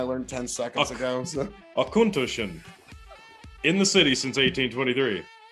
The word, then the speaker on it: Auchentoshan: knowing something i learned ten seconds ago so akuntushen in the city since 1823.